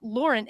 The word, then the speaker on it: Lauren: And Lauren, she does pronounce it Lauren, am I correct? Mm-hmm. Not Lauren, Lauren. One of those.